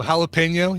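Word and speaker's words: jalapeño: Oh, jalapeno. Yeah, there you go. There's an even better example. That N with a little tilde is pronounced nya.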